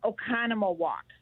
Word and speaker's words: Oconomowoc: you say the name of your town okay oconomowoc oconomowoc okay i like it yeah halfway between